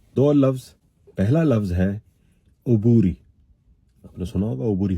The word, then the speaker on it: عبوری: عبوری غلط تلفظ ہے، درست تلفظ ہے عبوری. آپ لغت بھی دیکھیے گا، لغت میں عبوری ہے، عین پہ پیش ہے. کیا ہے؟ عبوری.